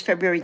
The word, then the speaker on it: February: and I'm not pronouncing it right as that person said. And then they came in and they said February has an R. And I'm like, well, it actually has two Rs, so you don't even